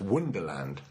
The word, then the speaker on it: Wunderland: guys though for some Wunderland was actually pronounced wonderland not it may be